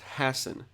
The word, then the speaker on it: Hassan: Hey, in case you're curious, her last name is spelled Hassan, like the name Hassan, but it's actually pronounced Hassan because coming from Moorish lineage, channeled through Ireland because of immigration many, many years ago.